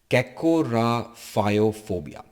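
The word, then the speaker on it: cacorrhaphiophobia: It is pronounced as cacoraphophobia. Cacoraphophobia.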